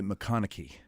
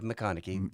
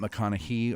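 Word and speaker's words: McConaughy: Now you say McConaughey. Yes. Okay. Yeah, McConaughey. Not McConaughey or McConaughey.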